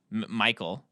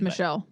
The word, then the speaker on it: Michel: But then, when she's on the phone with Michael, I'll call it. I don't think that's the French pronunciation. I think it's Michelle.